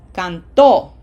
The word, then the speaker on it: cantó: Can is emphasized. As opposed to the other way would be cantó.